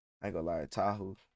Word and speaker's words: Tahu: Is it Toa? I forgot his name. I forgot how to say his name. I ain't going to lie. Tahu.